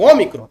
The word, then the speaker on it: ômicron: ser om micron o o ômicron é aberto e o ega eu